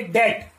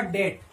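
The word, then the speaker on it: debt: अब इसका जब हम उच्चारण करेंगे तो करेंगे डेट, डी ई बी टी। तो यहां पर जो बी है बी का हम उच्चारण नहीं करेंगे तो इसका जो प्रोनाउंसेशन होगा डेट, ठीक है।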